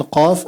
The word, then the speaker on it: ق: Try to make it a little more heavier so that you differentiate between Qaf and Kaf, because these are two different letters.